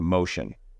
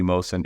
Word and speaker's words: Mohsen: So Mohsen will be Mohsen. It will not be Mohsen.